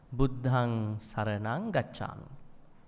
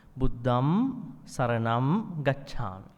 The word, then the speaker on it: Buddham Saranam Gacchami: Now you do in your 5 precept, Buddhang Saranang Gacchami.